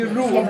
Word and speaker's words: Roop: My name is Roop, but you can call me Roop, R-O-O, easy for you to pronounce. So very easily you can say me that is a Roop, Ru is okay.